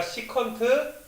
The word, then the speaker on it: 시컨트: 그래서 얘네 얘들아 시컨트 세타가 돼. 너희가 이제 그 무슨 초단위 할 때 얘들아 그게 뭐야 세컨드라고 하잖아. 맞아 얘들아. 근데 그렇게 하지 말고 얘들아 시컨트면 시 이러지 말고 얘들아 시컨트라고 읽어줘.